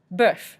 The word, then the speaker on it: bœuf: Bœuf, again that we talked about beef, the O-E-U noise of and then we pronounce the F at the end, bœuf.